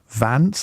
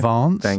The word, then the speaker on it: Vance: be the Republican candidate would it be JD Vance or and note the pronunciation Vance not Vance as people on the BBC keep saying or